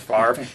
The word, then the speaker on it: Favre: you when you have a name that's f-a-v-r-e and you pronounce the r before the v i mean that's magic